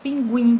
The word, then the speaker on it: pinguim: na sílaba, como abacaxi, pinguim, televisão. Pinguim! O guim é a sílaba mais forte, então ela é a sílaba que está em última posição. Então é considerada oxítona.